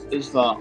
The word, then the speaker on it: Izva: And you would know the kind of worshippers of Izva on that continent.